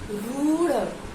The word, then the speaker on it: रूढ़: अगला शब्द वर्ण है हमारा रूढ़, रूढ़। तो जब रूढ़ का उच्चारण करते हैं आपको पता चल जाता है कि यहाँ पे दीर्घ ऊ की बात कर रहा है।